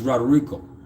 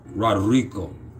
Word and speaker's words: Roderico: is my name is roderico make sure you roll your rs roderico anyway rodrigo yeah